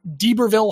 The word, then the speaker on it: D'Iberville: And so he's a very late bloomer when he gets to D'Iberville High. That's spelled little d apostrophe I-B-E-R Ville. So I think D'Iberville is correct.